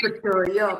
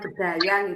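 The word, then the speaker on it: bedhaya: Bunda, maaf ya, saya ini apa ee membenerin sedikit aja, sedikit aja bacanya tari bedoyo bukan bedaya.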